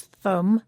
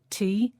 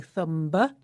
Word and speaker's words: thumb: That's thumb, spelt T-H-U-M-B. But we don't pronounce the final B. We don't say thumb, we say thumb, Rob, thumb.